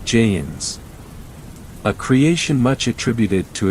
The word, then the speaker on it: jinn: I am talking about jinns pronounced as jeans a creation much attributed